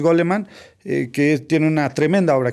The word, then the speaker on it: Goleman: a Daniel goleman de no sé si se produce gol alemán yo así lo pronuncio en castellano o goldman pero yo creo que es gol alemán que tiene una tremenda